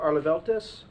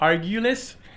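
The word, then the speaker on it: Arguelles: Arleveltis. How bad did I do? It's been butchered before, don't worry about it. That's I'm used to it. that's what happens when I leave my glasses at home, right? Hey, my name is Argulis, 1115 Harms Way, Port Orange.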